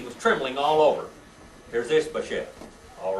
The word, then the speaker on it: Ishbosheth: Ishbosheth.